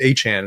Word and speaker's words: Achane: Achane. That's how you pronounce it.